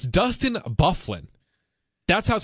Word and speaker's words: Byfuglien: or something like that right okay it's Dustin Byfuglien that's house pronounced can't we use something just don't make